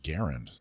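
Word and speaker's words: Garand: trade show you were supposed to correct my pronunciation of grant oh he's given up on you yeah actually it's pronounced garend did you know that oh i did not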